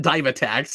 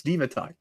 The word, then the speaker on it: Divatox: appreciated dynamic tax no it's not dive attacks it's divatox these guys make a